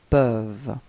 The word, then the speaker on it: peuvent: Ils peuvent. Okay, so as usual you've got this E-N-T at the end, but then you don't pronounce it.